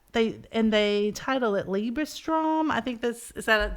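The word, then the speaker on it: Liebestraum: he is playing they and they title it liebra Strom I think this is that did I say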